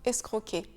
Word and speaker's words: escroc: Le C est silencieux, un escroc. Ce mot viendrait d'un mot italien que je ne vais pas essayer de prononcer. On a donc gardé le C du mot italien, mais on ne le prononce pas. Et le verbe de la même famille, c'est escroquer. Donc, on reprend ici le son que, escroquer.